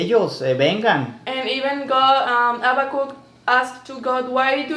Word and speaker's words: Habakkuk: Habakkuk, yeah.